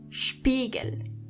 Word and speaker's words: Spiegel: When you see an S before a P, you have to automatically pronounce the S as Sh, even if there is no C or H. The S is pronounced as Sh as long as there is a P after it.